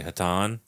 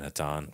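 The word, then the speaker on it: Hatonn: entity that is called I'm just going to say hatan it's spelled h a t o n n but I'm just I'm just saying hatan feels hatani to me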